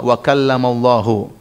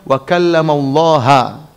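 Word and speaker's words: وَكَلَّمَ اللَّهُ: Itu cara bacanya, Allahnya di dhamma, wa kallamallahu, sehingga maknanya Allah yang subjek, Musa yang objek, Musa alaihissalam. Kata mereka, harusnya dibaca wa kallamallaha, Allah objek, Musa ngomong sama Allah dengan ngomong sebenarnya.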